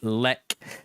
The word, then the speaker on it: Xlec: His artist name is Xlec, but it's pronounced Lec.